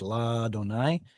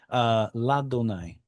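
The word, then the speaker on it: לַאדֹנָי: front of Yod He Vav He, and I pronounced it as La Donai. The aleph did quiesce. Yes. La Donai.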